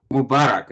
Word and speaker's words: Mubarak: Though President Mubarak, am I pronouncing that anywhere close? Mubarak, yeah.